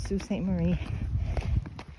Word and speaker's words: Sault Ste. Marie: Marie, which I was pronouncing completely wrong before. But that's what it's called, Sault Ste. Marie.